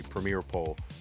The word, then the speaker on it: PremierePole: Premiere with an E at the end, so spelled like Premier E pole, but it's really premier pole but with an E.